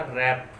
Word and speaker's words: wrap: तो आप लिखिए W कहाँ साइलेंट रहेगा। तो इसके लिए सबसे पहले हम लिखते हैं एग्जाम्पल। जैसे आपने एग्जाम्पल लिखा रैप, WRAP, रैप।